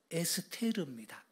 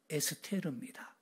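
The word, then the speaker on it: אֶסְתֵּר: 방식을 따라온 겁니다 그래서 에스더 이렇게 말하지만 히브리어 발음은 에스테르 예 별을 의미하고요 루은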